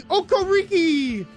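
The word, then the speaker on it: Okereke: Kono Brian Burns Bobby okar I mean that's disgusting you're saying it wrong it's Bobby okor RI that their three their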